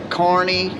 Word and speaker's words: Kearney: say so that it's kearney carney courtney nebraska pronounced carney nebraska yeah and it looks like kearney is the way it is but it is pronounced carney so wow yeah make